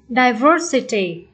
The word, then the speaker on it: diversity: Câu B, diversity. Diversity. Chúng ta thấy đuôi et. Khi các bạn thấy đuôi ET này thì đuôi này không nhận dấu nhấn mà dấu nhấn sẽ nằm ở trước đó một âm tiếp. Diversity, dấu nhấn trước âm ET.